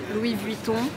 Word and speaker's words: Louis Vuitton: mais c'est trop beau bien sûr l'irremplaçable Dior prononciation des marques de luxe Louis buitton Dior alors si vous avez regardé la série